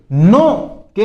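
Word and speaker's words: knock: है चोट या मार इसमें भी के साइलेंट रहता है। ध्यान रखना के नोक नहीं होता है। नोक होता है।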